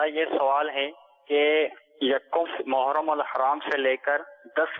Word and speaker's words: محرم: تلفظ ماشاءاللہ صحیح لیا، لیکن ہم عوام الناس جو ہے نا یہ محرم کو محرم بولتے ہیں. محرم آ گیا، یہ محرم نہیں ہے، محرم محرم محرم.